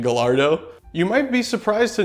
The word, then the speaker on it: Gallardo: The last Lamborghini made with a manual transmission was the Gallardo, and yes, it is pronounced Gallardo.